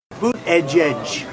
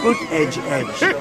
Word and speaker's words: Buttigieg: Boot edge. You know what you call them? Boot edge. That's the way.